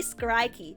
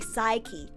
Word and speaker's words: Psyche: I say Skrikey, but I know his name is actually Psyche, right?